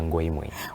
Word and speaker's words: Ngoimue: It's actually Uakengeza Ngoimue. Uakengeza. Yeah. Why do you pronounce it like that?